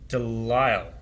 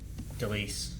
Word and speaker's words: DeLisle: Gray Delisle, I think, is actually her name. I said Delise, but I said it wrong.